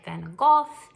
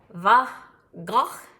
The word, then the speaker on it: van Gogh: England they say it van Gogh and it is originally Dutch and so it is more like buff go like you have a little something in your throat so you can look